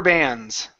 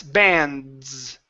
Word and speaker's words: bands: She flicked rubber bands. She flicked rubber bands. Uhhuh. Give me that dands. Bands. Uh-huh. So, that's when that Z comes in handy. This is a Z sound here.